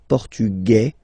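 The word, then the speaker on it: portugais: The Feminine form okay masculine portug you don't pronounce the S feminine form portuges you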